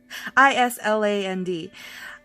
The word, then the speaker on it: Island: word Island it's literally is planned i-s-l-a-n-d um and yeah I read it as such and all the kids were snickering and the teacher's like oh no that's Island and so yeah I